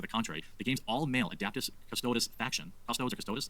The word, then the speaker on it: Adeptus Custodes: contrary, the game's all-male adeptus custodes faction, custodes or custodes, not sure. Oh, adeptus? What? What is that? It's adeptus custodes, not adapt.